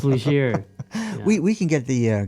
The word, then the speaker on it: Leger: So before we get on, I think I mispronounced your name. I bet a lot of people mispronounce it's it. Legier. It's Legier.